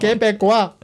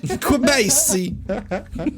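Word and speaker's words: Québécois: Break it down. Que is Q-U-E. Que. Be. Be. B-E. Quoi. Quebecois. Quebecois.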